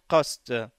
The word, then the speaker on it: qast: Si cela a été fait impartialement, alors la prononciation change et devient qast.